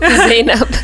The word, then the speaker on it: Zainab: Am I pronouncing it correctly? Zainab.